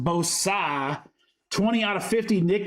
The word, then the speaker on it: Bosa: And it's pronounced Bosa.